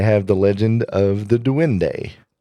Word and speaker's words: duende: They have the legend of the Duende. Duende? Yes, Duende. Spell that.